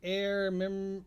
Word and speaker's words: Aer: So right now you can get Air Memories of Old, and the Air is spelled AER, Mm-hmm.